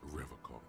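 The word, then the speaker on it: Revachol: He pronounces Revacol with a hard K, unlike other.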